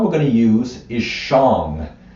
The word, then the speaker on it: shang: going to use is Shang it's spelled s-h-a-n-g but the a is pronounced like an O so which song